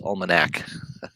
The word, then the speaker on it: almanac: z box the sports almanac almanac almanac it's almanac i totally destroyed the pronunciation there almanac uh you know that's back